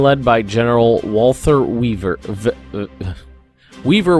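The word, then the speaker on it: Wever: Weaver would be the American pronunciation, so that's what I'm going to go with.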